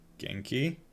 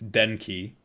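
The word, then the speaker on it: 元気: Genki? Here, wait. That's Denki. Kenshiki. Genki. There we go.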